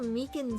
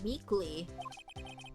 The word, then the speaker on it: Meekins: Actually, Officer Meekins at the detention center told us. That poor little doggy. Poor guy. I keep getting his name wrong and calling him Meekly.